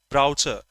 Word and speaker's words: brochure: People pronounce browser or browser here. In India, we say browser.